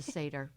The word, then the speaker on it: Seder: It's a Seder.